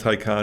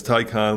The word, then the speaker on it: Taycan: tycan but it's pronounced tycon it's a german thing like if you're old like me you'll know it from wrath of khan but it's tai con we picked up a